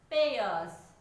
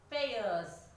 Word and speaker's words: pairs: Answer is pairs. Pairs. P-A-I-R. Yes, pairs. Ending with S letter but pronouncing as Z. It sounds like Z.